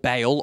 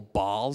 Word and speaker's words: Baal: regions there was a a false god called baale or Bal depending on how you pronounce it and they would